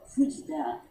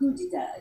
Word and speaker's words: Fujita: He's oil, but Fujita his work is great. Now, how do I spell that? Foujita. Fujita. He's mainly stayed in Paris, so it's not really, but Fujita. it's Fujita. Fujita. So it's Fougita.